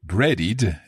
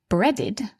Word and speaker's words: breaded: So buttered, we can hear there that the ed is pronounced d buttered and breaded. Now bread ends in a d which is this dental consonant.